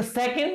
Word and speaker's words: second: बोलते हैं, देखो दोबारा इसमें दो सिलेबल है, सेकंड, सेकंड, और अब दूसरे में क्या आ रहा है? ए की आवाज आ रही है, हम इसका बोलेंगे सेकंड, इट्स श्वा।